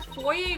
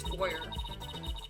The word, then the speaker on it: foyer: Why is there foyer versus foyer? I think foyer is the American pronunciation and foyer is the British pronunciation.